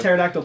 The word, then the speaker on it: pterodactyl: comes out of nowhere pterodactyl P cuz the P is silent okay you know we're